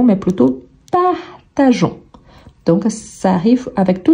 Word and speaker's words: partageons: prononce pas partagon donc on va garder le E mais on ne le prononce pas l'objectif ici c'est qu'on ne dise pas partagon mais plutôt partageons donc ça arrive avec